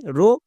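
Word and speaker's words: wrong: তার মানে আমি ওয়ার্ডটিকে দেখেই বুঝতে পারলাম এখানে ডব্লুর উচ্চারণ হবে না, ডব্লুর পরে আর আছে তাই, মানে ডব্লু এখানে সাইলেন্ট।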